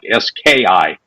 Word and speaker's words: SCIF: Real quick, what's a SCIF? Yeah, so SCIF stands for Sensitive Compartmented Information Facility, spelled SCIF, but pronounced like SKIFF.